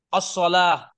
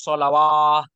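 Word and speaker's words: الصلاة: Bacanya tetap. As-sholah. Tetap. Bukan bacanya nih. Wa yuqimunas sholawah.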